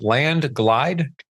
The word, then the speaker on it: Landglide: Spell that for us. Is it landlide?